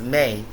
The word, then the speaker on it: Me: The Me, pronounced May, were the divine decrees,